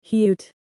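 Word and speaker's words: 히읗: The letter name is hyut.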